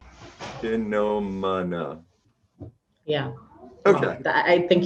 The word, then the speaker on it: Chinomona: Oh, I am not good with pronouncing names. Can you help me out with the last name? My surname is Chinomona. Chinomana.